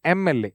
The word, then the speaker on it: MLA: When you say MLA, M, it is a sound comes first.